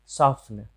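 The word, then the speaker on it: soften: सॉफ्न, सॉफ्न मतलब मुलायम करना, सॉफ्न मतलब मुलायम करना। तो हम देख रहे हैं कि यहाँ पे टी का उच्चारण साइलेंट है।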